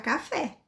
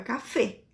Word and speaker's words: café: Lembrem que a letra E, por mais que ela esteja acentuada, eu não vou pronunciar café. Em espanhol é café, tá? O som de E é fechadinho.